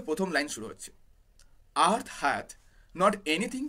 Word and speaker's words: hath: মনে রাখবে এই যে HATH, এই যে হ্যাথ বলে যে উচ্চারণটা, সেটা কিন্তু ওল্ড ইংলিশ বা আর্কেইক ইংলিশ, এর বর্তমান প্রয়োগ আর হয় না। বর্তমানে এটা হ্যাজ, অর্থাৎ HAS, THটাকে এস এর বদলে বসানো হতো ওল্ড ইংলিশে, এখন এটা হ্যাজ হয়ে গেছে, তো পড়ার